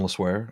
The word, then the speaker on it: Le Sueur: Yeah, so I'm Le Sueur. Le The French Sueur.